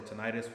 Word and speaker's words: tinnitus: bringing all those time let's call it tinnitus or tinnitus whichever way you would like to pronounce it but um yeah everybody